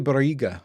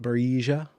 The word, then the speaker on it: Barriga: It's got to be Barriga, right? Not Barrija. That would not be, I don't think that's a Spanish or Hispanic or Latin pronunciation. It's Barriga. Barrija. That sounds something like a Dane would do. And we're not Danish around here.